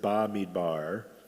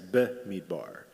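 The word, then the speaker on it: במדבר: And so sometimes we pronounce it ba midbar. But if you look closely, at least according to the Masoretic text, it's be midbar. It's got that little b, the shva in there.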